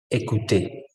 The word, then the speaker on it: écouter: ¿Cómo se pronuncia? ¿Escuchar? Écouter, écouter.